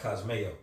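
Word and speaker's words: κοσμέω: When you go into that word trim, there's certain scriptures where that word in the Greek is pronounced kosmeo. Yes. You know, where you get like cosmetics from and everything.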